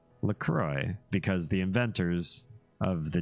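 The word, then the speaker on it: La Croix: it rhymes with joy lroy it rhymes with joy that's not how that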